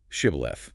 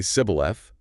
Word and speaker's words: Shibboleth: When fleeing Ephraimites try to cross, they're asked to say Shibboleth. And Ephraimites pronounced it differently. Apparently, they'd say Sibboleth. Couldn't frame the she sound right.